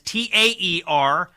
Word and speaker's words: Taer: Taer, and that's Taer. Not a traditional pronunciation, but not traditional spelling.